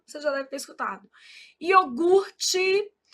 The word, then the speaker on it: iogurte: Iogurte, o R é aqui. A gente às vezes desloca esse R, fala iorgute. Isso é um erro de ortoépia.